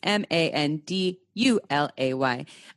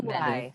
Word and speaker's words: Manduley: And your name is spelled, and your last name is Mandulay. Manduley. So close.